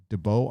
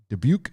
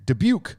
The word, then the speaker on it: Dubuque: uh debut de beaux how do you say this dubo iowa dubuque dubuque sorry my first marriage